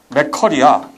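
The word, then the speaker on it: McCurry: 카레라이스 좋아하는 사람은 이름이 맥커리야. 물론 발음은 여기 딱게 들어가야지 카레가 되지만 맥커리야. 맥도날드가 아니라.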